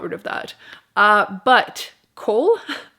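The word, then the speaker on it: Chaol: of that uh but cole i've been calling him cole i believe it's supposed to be pronounced kale which i i will die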